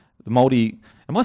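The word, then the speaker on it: Māori: It's like Mouldy, but just use an R. Mouldy. Yeah. That's right, Mouldy. I get so nervous because I don't want to disrespect anyone, but I'm trying to say it properly. No disrespect. And I don't want to say Maori. Yeah. You know what I mean? Because I feel like that's not right.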